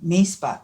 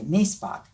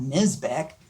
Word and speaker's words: Misbach: was Grandpa misbach and that's the German pronunciation and when my brother